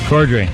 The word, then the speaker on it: Corddry: It's Rob Corddry. Is that how you say his name? Corddry.